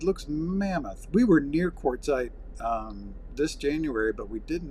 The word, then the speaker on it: Quartzsite: Quartzsite.